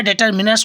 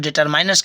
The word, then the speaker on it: determiners: डिटरमाइनर्स कहो या डिटरमिनर्स को लोग, इसका जो प्रोनाउंसिएशन होता है, कुछ लोग डिटरमिनर्स कहते हैं, कुछ लोग डिटरमाइनर्स कहते हैं, उसके अंतर्गत मैंने आपको क्वांटिफायर सिखाया है।